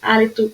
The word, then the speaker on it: hálito: vocês vão perceber que a letra H, ela não é pronunciada, ou seja, mesmo sem letra, a pronúncia dessas palavras seria a mesma. Então, se eu pegasse essa listinha e tirasse a letra H, eu ia ter hálito, helicóptero, hidratante, hotel e humano do mesmo jeito.